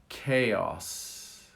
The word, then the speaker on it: chaos: We make it K. Chaos.